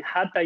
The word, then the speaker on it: Hatha: Hatha Yoga comes from a syllable, two syllables, ha and tha. Ha is the sound in Sanskrit for the sun, plus. And tha is the syllable for the word moon.